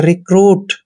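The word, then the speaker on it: recruit: को र लिखते हैं यू आई का उच्चारण यहां पर उ की मात्रा करेंगे और टी का उच्चारण ट करते हैं रिक्रूट दोस्तों रिक्रूट मींस होता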